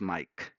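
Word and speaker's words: Maic: My name is spelled as M-A-I-C. It sounds as Mike.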